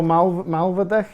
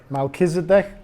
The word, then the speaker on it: Melchizedek: You know, there's a guy called Drunvalo Malvadek. Is that how you pronounce his second name? Melchizedek. Drunvalo Melchizedek.